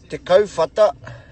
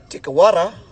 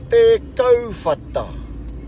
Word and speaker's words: Te Kauwhata: So te, kau, as in when you're saying the word coat, you know, like a jacket, coat.